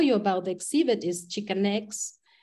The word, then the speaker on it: Xicanx: And one of the things that we wanted to also tell you about the exhibit is Xicanx. We spell it with an X at the beginning to